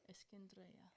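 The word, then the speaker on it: الإسكندرية: How do you say it? Alexandria. No, the other way. Eskin. Drei. Yeah. Eskindria. Yeah.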